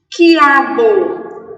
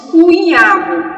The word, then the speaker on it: quiabo: Quiabo. QU, não escutei o som do U, perdão, não disse cuiabo, disse qui, o U não foi pronunciado.